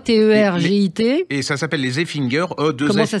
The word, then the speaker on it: Effinger: Et ça s'appelle Les Effinger, Comment ça s'écrit?